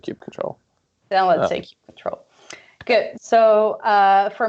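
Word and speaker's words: kubectl: that's actually interesting one is it cube cuddle or cube control what Isaac you Brendan on the right way to say it tube control that's what I say I say cube control by I know plenty of people who say cube cuddle but I thought I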